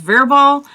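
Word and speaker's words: Wirbel: The one group that we were following with Weerbol, I think it's pronounced Verbal, they got one.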